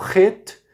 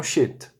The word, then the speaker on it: Het: Portanto, Het e não Shet.